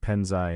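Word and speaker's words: 盆栽: The same two written characters used for bonsai are pronounced penzai and Mandarin Chinese.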